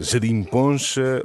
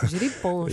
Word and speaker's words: gerinponcha: uma nova geringonça, a quem já apelidaram de gerimponcha ou pangonça. Eu não sei qual é que vocês gostam mais, refaço a pergunta, mas a questão é igual. Gerimponcha.